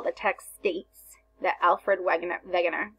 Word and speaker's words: Wegener: So example, the text states that Alfred Wegener, sorry, pronounced like a V, created the continental drift theory.